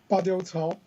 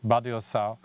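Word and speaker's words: Badiucao: Badiou Cao. Badiou Cao.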